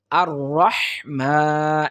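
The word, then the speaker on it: الرحمن: করব শিখার চেষ্টা করব দেখুন আর রহমান এখানে আমরা বলি আর রহমান আর রাহমান আর রাহমানির রাহিম এরকম পড়ার চেষ্টা করি কিন্তু এটা সম্পূর্ণটাই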